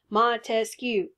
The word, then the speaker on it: Montesquieu: Montesquieu, three syllables, separation of powers, the three branches of government that we see in the Constitution.